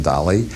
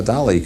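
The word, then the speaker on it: Dalí: a couple hundred years started spelling it d a l i instead of d a l y and pronouncing in Spanish fashion do and Salvador do comes from that strain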